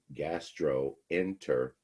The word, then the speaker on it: gastroenteritis: vowel, dropped the O, gastro, enteritis. So whenever joining two root words, you always keep the combining vowel. You never drop it. And you pronounce it too, gastroenteritis.